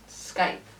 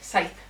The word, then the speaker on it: scythe: So anytime they like have a close-up on the Skype, is that how you say it? Scythe.